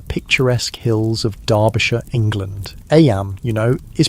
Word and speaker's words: Eyam: It's now the summer of 1665, and we find ourselves in Eyam, a small village nestled in the picturesque hills of Derbyshire, England. Eyam, is pronounced just like Eam.